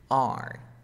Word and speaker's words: our: don't pronounce the of, you say and our, we say, like, the R in the alphabet. R.